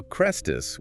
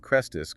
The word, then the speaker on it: Chrestus: Now, Chrestus, with an e, is a very common Greco-Roman name meaning good or useful, but it sounds almost phonetically identical to Christus, the Greek word for Messiah.